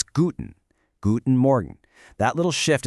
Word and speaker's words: guten: Try practicing these greetings out loud with me, and notice how the stress almost always falls on that very first syllable. It's not guten, it's guten.